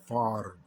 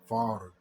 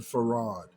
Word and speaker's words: Fard: So the name Fard Muhammad is pronounced Fard. Fard. The R is rolled. The Honorable Elijah Muhammad pronounced it wrong. He said Farad.